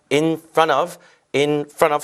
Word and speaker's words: in front of: in front of 실제 발음하실 때는 T 발음이 거의 사라지면서 in front of가 아니라 in front of 해서 N이 O에 연결돼서 front of 이런 식으로 발음이 됩니다.